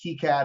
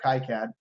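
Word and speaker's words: KiCad: I'm gonna pronounce this people pronounce it differently keycad or kai-cad you would have to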